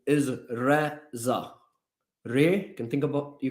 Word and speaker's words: Reza: pronounce my name not Raja Rani RZA Risa Razer I've heard everything about my name but my name is pronounced as Rea all right let's go